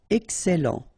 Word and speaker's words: excellent: Okay, you've got double L here, and then it will open the sound of your E here, and it will be E. Excellent.